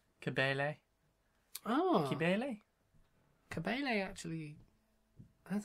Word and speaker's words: Cibele: It's spelled C-I-B-E-L-E.